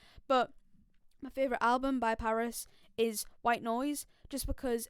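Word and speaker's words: PVRIS: you've not listened to paris it's spelled pv ris obviously i would have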